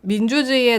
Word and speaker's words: 민주주의의: 민주주의의 나오는 의 처럼 첫 음절이 아닌 의의는 1호 발음할 수 있어요 왜 이 민주주의 이렇게 발음할 수 있는 거죠 그리고 민주주의의 할 때 의의는 에 로 발음하는 것도 가능해서 민주주의의 이렇게 발음할 수도 있습니다 아니 같은 애인 데